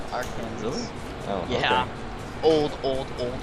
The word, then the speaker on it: Arkansas: Yeah, like, I've met people from Arkansas who pronounce it Arkansas.